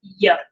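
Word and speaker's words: יוד: It's pronounced yod.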